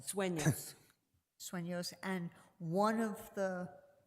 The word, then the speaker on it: Sueños: Sueños. Sueños, and one of the developments is called Los Sueños, right? Madam Chair, Commissioner Hamilton, that is correct. But the other 4 existing developments are all on Los Sueños Road.